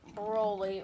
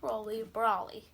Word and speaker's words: Broly: We have the Dragon Stars Frieza, probably the best Dragon Stars, and the Figure Rise Standard Broly, or for people who think it's pronounced Brawly.